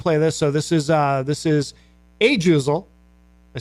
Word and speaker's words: Ajuzel: So this is Ajuzel.